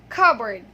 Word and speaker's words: cupboard: But this word is pronounced as cupboard. Yes, you heard it right. It's cupboard. Okay, so the P there is silent, and the vowel sounds there are schwa sounds.